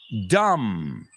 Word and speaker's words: dumb: So, climb, thumb, dumb, numb, bomb, tomb. What do all these words have in common? The B's are completely silent at the end.